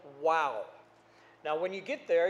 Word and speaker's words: Wau: in a town called wow now when you get there you'll understand why they said wow but it's spelled a little bit different wau instead of w-o-w but still the same wow is one of those